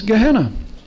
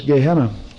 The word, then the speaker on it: Gehenna: valley of hinnom and in hebrew valley of hinnom is gehennom and the greek pronunciation of it is gehenna well if you have